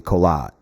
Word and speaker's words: Korat: Living I live in the rural rice fields on the outskirts of the city of Korat in the province of Korat, pronounced locally Kolat.